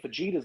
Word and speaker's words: fajitas: James making fajitas tonight. Okay. Crayon man. What did I do? Fajitas. Stop pronouncing the J.